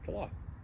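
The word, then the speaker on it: Tlàth: Okay, so how do you pronounce? Tala.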